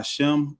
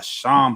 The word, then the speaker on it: Sham: Not by Shem, but by Sham Hamashiach Yahawah. And that's spelled Sham.